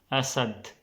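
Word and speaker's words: أسد: Asad, same like A also. A. Asad. Asad. A. You can hear it's like A. Like not A, it's more like A. Asad.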